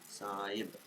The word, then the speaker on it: Sahib: Sahib and drawing. Where do I will write this to? Sahib. Sahib. Okay, Sahib. Not H is silent. Okay. S B. Big version of B. Saib.